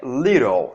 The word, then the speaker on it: little: Então a pronúncia dessa palavra aqui é little, tá? Aqui, ó, esse I aqui, ó, ele representa um som um pouco mais forte, tá? Do que o nosso I, digamos assim, convencional, né?